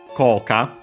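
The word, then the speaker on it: 効果: Koka, effect. This we have seen before. It's Chinese compound accent on the first mora.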